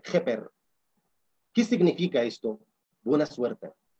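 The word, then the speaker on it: ḫpr: Esto se pronuncia Jeper, J-P-R, Jeper.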